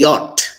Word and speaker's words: yacht: and the final t yacht yacht y o t is the pronunciation of the naughty arch yacht